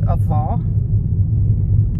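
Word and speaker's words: Avô: And we're going down to a very pretty one called Avar. A-V-O, that's how it's spelled.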